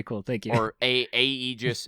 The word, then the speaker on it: aegis: thank you for a aegis that's spelled a-e-g-i-s so it's like aegis aegis yeah i guess depending on your regional accent okay um yes thank